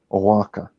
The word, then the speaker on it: Oaxaca: I believe the proper pronunciation is Oaxaca. Oaxaca. Yes. Did I say it right? Oaxaca.